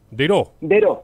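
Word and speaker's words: Daireaux: Después está Dairox, o Dairox, ¿cómo es que se pronuncia? Dero.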